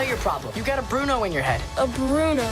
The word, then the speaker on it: Bruno: Okay, and Bruno, if it were pronounced American, but in Italian, in Spanish, they really roll their R's. Bruno.